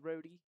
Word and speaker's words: Rodi: They call him Rodi, it's pronounced Rhodey.